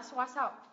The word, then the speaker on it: support: mình nhấ v t thứ hai âm này đọc là or đúng không sport và âm thứ nhất không được Nhấn là support support support support Ok Các bạn nhớ nhá